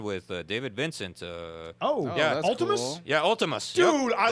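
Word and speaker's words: Vltimas: You wouldn't pronounce it Ultimus. It's with a B. It's with a V, but it's Ultimus.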